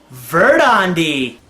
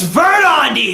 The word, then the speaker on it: Belldandy: name is belt and it's pronounced ver Tandy here this is my card it's vert on d you